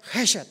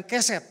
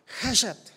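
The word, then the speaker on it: חֶסֶד: Dibacanya haset bukan keset. K-nya agak dikit-dikit melebur dia menjadi ha. Hasyet.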